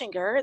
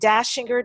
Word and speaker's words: Dachinger: it's debye de bebé I and - injure the last name is Austrian so it's spelled EA CH I n G ER Facebook